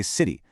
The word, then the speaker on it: city: When a T sound is surrounded by vowels, American speakers get kind of lazy and we pronounce it like a soft D. Just think of the word city. We don't really say city, we say city.